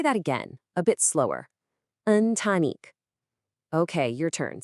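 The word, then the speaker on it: ընտանիք: In Armenian, it's antanik. And it's pronounced. Let's say that again a bit slower. Untanique.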